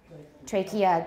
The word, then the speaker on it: trachea: nomenclature the next one used to be trachea but i did not hear that when i was young i never heard that until i think when i saw this textbook exercise so turkey we say trachea good etiquette i never